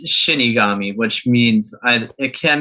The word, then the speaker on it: shinigami: but i'm like i also thought it was shin megami and it wasn't shin megami it was shinigami so i was like okay yeah i i would know that it's pronounced shinigami because of bleach because that's like what the